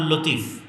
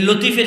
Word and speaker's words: লাতিফ: অনেকের নাম আছে আব্দুল লতিফ আছে না নাই? আছে। এই লতিফের সঠিক উচ্চারণ হচ্ছে লাতিফ।